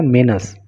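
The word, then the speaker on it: menace: Regarding monkey मेनस, देखिए इसका pronunciation जो होता है ना, मेनस, इसको मेनस बोलते हैं।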